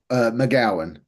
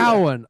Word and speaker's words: McGowan: Am I pronouncing that right, Joe? McGowan, nearly there. McGowan.